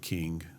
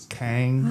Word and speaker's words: King: of WI and called king um and uh it's not really a little anymore you mispronounce that I believe it's Kang Kang that's right I've got